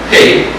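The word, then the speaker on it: ה: The next letter, the ha, or hey, as they pronounce it today, means to look toward to reveal, a revelation.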